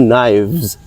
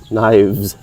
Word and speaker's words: knives: Okay, with a V sound at the ending. Two knives, knives.